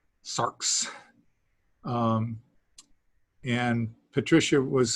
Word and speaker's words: sarx: it's d d um here's a word that has an x at the end of it sarx s a r x sarks um and patricia was